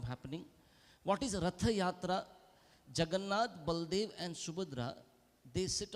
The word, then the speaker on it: Jagannath: And what is this Jagannath? And when they could not pronounce Jagannath, they would pronounce it as Juggernaut.